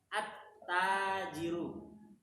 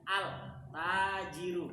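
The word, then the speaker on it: التاجر: memang tidakanya begitu ya Ta ini kan Syamsiah maka bacanya attajiru Kenapa beliau ee bahas masalah ini karena terkadang pemula ketika melihat huruf tersebut Syamsiah kadang dia enggak sadar sehingga bacanya Al tajiru begitu Al tajiru padahal secara membaca kaidah membacanya salah tidak seperti itu harusnya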